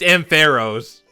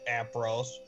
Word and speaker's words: Ampharos: official pronunciation. Yeah, it's Ampharos.